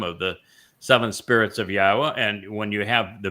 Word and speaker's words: Yahowah: go, we're told that the wah is pronounced as an o sound and the hey is pronounced as an a and the y is pronounced like you would pronounce it in Israel or in yashya.